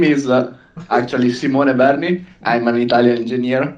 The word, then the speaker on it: Simone: world your name is sim wand is ken simone yeah italy and pronunciation is a little bit different right right